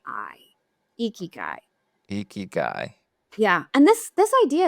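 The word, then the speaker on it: ikigai: would recommend people look up the concept of eeky guy a Japanese idea which stands for reason for being okayy how do you spell that yeah I was just going to say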